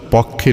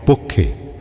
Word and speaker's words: পক্ষে: এইতো ভুল উচ্চারণ করলে শব্দটা পক্ষে নয় পক্ষে।